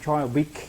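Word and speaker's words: Joel Beeke: Ele é americano, é Joel Bick, né? A pronúncia é diferenciada.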